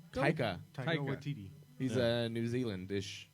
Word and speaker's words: Taika: as well as His name is Tycho? Taika.